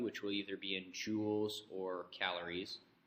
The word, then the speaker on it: Joule: 4.184 joules okay a Joule is another unit of energy this is a last name after James Prescott Joule it's pronounced like you have a jewel like a piece of jewelry so the equation we're